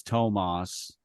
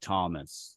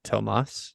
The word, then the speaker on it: Tomas: of people pronounce it Thomas they think it's yeah in the US it would be Thomas that's unbelievably stupid in like Mexico it would be Tomas yeah because he doesn't